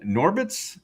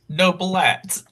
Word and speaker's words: Noblett: Norbitz Norbitz Norblitz. Noblett. Noblett. I'm sorry.